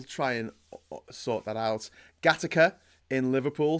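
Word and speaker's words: Gattaca: and sort that out gataka in Liverpool says Vision thing yeah that's it's because it's gay AKA but it's pronounced gataka but when I see it I just think gataka because of grown up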